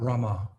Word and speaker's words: Rama: You're leaving you're chanting Ram, not Rama. Hare Rama, when we sing, Hare Rama, Rama Rama, Hare Hare. You're chanting Ram. You have to, Rama, every syllable.